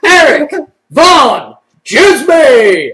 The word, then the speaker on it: Erik Van Djsimie: He is none other than Erik Van Djsimie! And the D is silent.